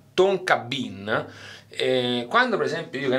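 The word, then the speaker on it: tonka bean: Ambra e no spettacolo tonka bien che si legge tonki tonkahton la faccio una figura di merda traduttore bien si legge Bin quindi Fava Tonga tonka Bin quando per esempio io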